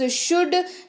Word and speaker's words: should: अगला शब्द है हमारे पास शुड, SHOULD, एल रहेगा साइलेंट।